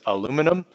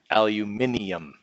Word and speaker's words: aluminium: There's different ways to say it, just like there's different ways apparently to say aluminum. All right, because the International Union for Physics and Applied Chemistry actually changed the name of aluminum back to its original pronunciation. Okay, so even though on our periodic table it says aluminum, on the newer periodic tables it says aluminium.